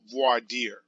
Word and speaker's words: voir dire: case which is called voir dear and they're gonna pronounce it a little bit differently but essentially it's a French word basically it means see